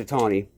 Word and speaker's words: Itani: I think it's pronounced Itani. I asked someone once if it was pronounced about how her name was pronounced. She said a Tony.